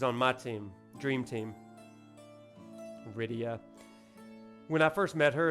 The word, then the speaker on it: Rydia: Rydia. When I first met her as a 8-year-old, I pronounced her name Rita because I couldn't imagine that anyone's name was Rydia.